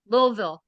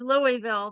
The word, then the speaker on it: Louisville: look forward to hey you know how to say it properly too probably lville right lville oh yes ma'am yes ma'am everyone up here says Louisville they added they add a Sol yeah that's true that's